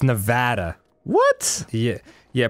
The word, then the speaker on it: Nevada: No, it's Nevada. What? Yeah. Yeah. Pronounce it so that the middle part rhymes with ad.